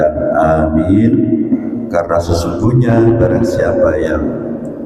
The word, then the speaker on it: amin: Jadi apa namanya mengucapkan lafal ucapan amin itu dengan memanjakan huruf A yang pertama dan min yang terpakai.